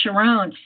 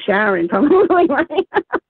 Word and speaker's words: Sharón: Well, I will also, like my name looks like Sharon on paper, but it's pronounced Sharon.